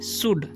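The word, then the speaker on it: should: हे नहीं पढ़ना है शुड इसे पढ़ते हैं हम शुड ठीक है यहां पर एल साइलेंट है शुड नहीं पढ़ना है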